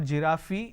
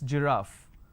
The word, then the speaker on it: giraffe: giraffe starting with g it's not jirafi it's giraffe and we have a word